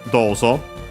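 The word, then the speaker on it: どうぞ: Last but not least, we have then dozo. Technically from do how in what way and then the word of the go so do series accented on do as per the rule.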